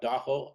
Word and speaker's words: Da-ho: AA means the lake Taho Shoreline uh it's mispronounced word as Tahoe but Doo is the correct way to say it so